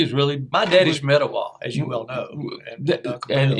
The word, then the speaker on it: Etowah: It's Etowah.